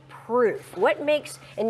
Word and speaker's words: Pruuf: So why the name proof? What makes And it's spelled P R U UF gourmet pudding.